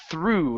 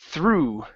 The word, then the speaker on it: through: one here is the the word through instead of throw okay it's through through through good good so flipping